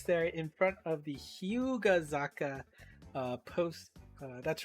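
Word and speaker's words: 日向坂: in at least Tokyo, there is the kanji for hi mukai saka, but that's actually pronounced Hyugazaka. So, and actually, funny enough, on the side of that post, it does actually say that explicitly that some people mistakenly call this slope Hinatazaka.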